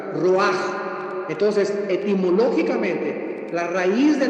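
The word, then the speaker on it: רוח: Y aquí la palabra espíritu es la palabra roach con ch, porque la ch en el hebreo se pronuncia como j roaj.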